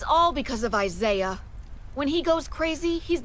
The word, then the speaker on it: Isaiah: Remember that pronunciation, Isaiah.